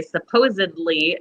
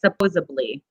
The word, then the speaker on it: supposedly: we don't yeah like how 90 of americans don't say supposedly they say supposably it's like i'll say